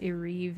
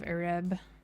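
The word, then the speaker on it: Ereb: I'm gonna go back to Areve right quick. I don't know when I started calling it Areve instead of Areb.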